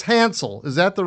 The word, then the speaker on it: Hansel: It's Hansel. Is that the right way to pronounce the last name?